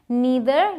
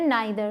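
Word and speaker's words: neither: टी हा आई आर इसकी भी दो प्रनंसीएशंस हैं निडर या फिर नेत्र दोनों ही सही है इसका मतलब होता है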